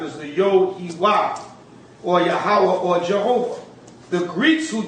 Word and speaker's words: Yahweh: the Most High, Yod-Heh-Wah, according to the ancient pronunciation. The ancient pronunciation would be Yahweh.